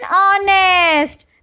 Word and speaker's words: honest: An honest, because H is silent and the word begins with the sound of a vowel, that is sound of a swar.